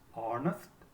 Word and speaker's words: honest: Even though all the words begin with the consonant letter H, that letter remains silent. That means we do not pronounce that letter.